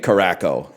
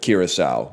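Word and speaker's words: Curaçao: But then he did say Caraco instead of Kiraasau, which is really funny.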